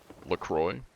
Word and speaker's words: LaCroix: The X is silent. It's, LaCroix.